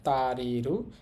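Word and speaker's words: 足りる: আর বলছিলাম আরেকটা কুনিয়মী বা জাপানি উচ্চারণ হচ্ছে তারিরু।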